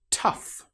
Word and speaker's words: tough: Tough. In this example, the gh sounds like the f sound.